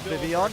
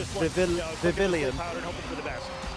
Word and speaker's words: Vivillon: I love the way Evan pronounces Vivian. Yeah, Vivillon.